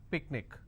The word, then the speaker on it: picnic: tragic any more words that ends with IC picnic OK the rule says in case if you